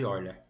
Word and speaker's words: Euler: Mas eu quero apenas comprovar que, por serem poliedros convexos, vale a relação de Euler. A gente lê Euler, né? Embora em português se escreve Euler.